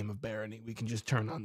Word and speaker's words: Barony: this game so I just called it mentally Baron and then the second I said it while